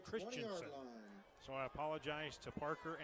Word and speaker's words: Christianson: I've been calling Parker Christianson the quarterback for Davis Christiansen it's spelled Christianson but it's actually Christensen so I apologize to